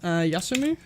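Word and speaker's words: 休む: The pronunciation for it is yasumu. So yasumu is to be absent, to take a day off.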